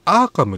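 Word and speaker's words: Arkham: が、これね、確かアーカムって読むんですよ。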